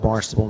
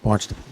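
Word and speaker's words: Barnstaple: Ours is Barnstable, and theirs is Barnstable. They originally spelled it with a B. Now they spell it with a P. We haven't gotten there yet, but that's our sister city in England, Barnstable, pronounced Barnstable.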